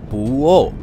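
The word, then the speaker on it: Puʻu ʻŌʻō: Tim tersebut secara khusus tertarik pada lubang Puuo. Iya, memang begitu pengucapannya. Puuo.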